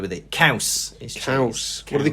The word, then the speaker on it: caws: Cheese in Welsh is caws, which is like saying cows, but you got to be a bit harder with it. Caws is Caws.